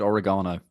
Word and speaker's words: oregano: So, where's Richard Oregano? That's my question. Who is that? Oregano. You Americans say oregano.